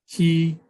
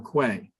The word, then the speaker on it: Quay: I'm also hoping at the end of the presentation that Councilmember Levin can finally answer whether it is Key, K, or Quay, because Merriam-Webster dictionary allows for all three pronunciations.